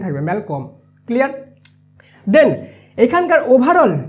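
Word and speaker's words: Malcolm: ছিল পুত্র তার যে নাম ছিল সেটা হল ম্যালকম কলম হবে না কম হবে ঠিক আছে এলটা সাইলেন্ট থাকবে ম্যালকম ক্লিয়ার এখানকার ওভারল যে স্টোরিটা স্টোরি যে এন্ড দেয় মানে যে শেষ করেছে তার নাম হলো ম্যাকডাফ।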